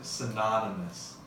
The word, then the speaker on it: synonymous: When you change it to adjective, synonymous. It's more of an ah sound.